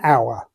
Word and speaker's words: hour: Look out for silent letters. There are 60 minutes in an hour.